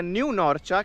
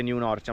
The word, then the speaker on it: New Norcia: Siamo finalmente arrivati a New Norcia, che non si dice New Norcia ma si dice New Norcia, chiaramente un po' inglesizzato, e non si chiama